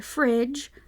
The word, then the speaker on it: fridge: so that is the reason why fridge has a silent D and refrigerator does not so that's your spelling